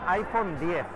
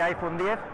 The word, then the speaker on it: iPhone X: La gran estrella de la conferencia ha sido el iPhone 10. Pronunciado 10, tenemos la duda de si va a ser iPhone 10 o iPhone X, pero parece que es iPhone 10.